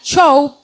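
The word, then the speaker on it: שוב: en el Antiguo hebreo esta palabra que se se pronuncia show no show de Cuánto vale el show así de espectáculo no sino show esta palabra significa volverse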